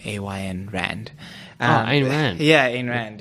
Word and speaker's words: Ayn Rand: By I don't know how to say her name, A.Y.N. Rand.